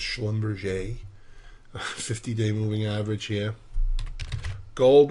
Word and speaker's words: Schlumberger: Hess 50-day potential resistance Schlumberger as my friend calls it even though it's pronounced schlum 50-day moving average here